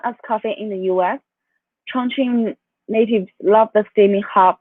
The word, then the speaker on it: Chongqing: Is that how we uh, pronounce? Chongqing.